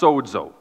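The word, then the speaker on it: σῴζω: It's pronounced sozo.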